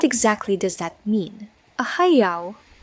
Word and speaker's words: heiau: A heiau, pronounced heiau, is an ancient Hawaiian temple or sacred site used for worship, ceremonies, and sacrifices.